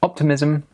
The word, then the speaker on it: optimism: We'd use this phrase or these phrases in the speaking test, also the writing test, and the pronunciation is optimism, pessimism, stress on the first syllable.